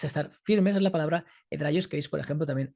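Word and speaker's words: ἑδραῖος: Esta palabra en griego es hedraios o hedraios, como vosotros pronunciáis griego, que connota esa constancia de personas que están en la fe.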